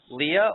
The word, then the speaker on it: Leah: this up all along is Leah's name pronounced Leah or is it Lee it's well it's Leah but but she's my sister I call her Lee okay so we were hearing Lee but that's her nickname from her sister okay that